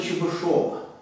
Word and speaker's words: Чебышёв: Неравенство Чебышева. Замечательный российский математик 19 века. Вот правильно, вроде бы, все-таки его произносить именно Чебышев, а не Чебышев, как многие делают.